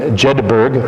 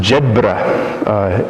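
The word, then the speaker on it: Jedburgh: I was residing at Immaculate Conception not in jedberg but it's pronounced Jed uh as I learned and you see way back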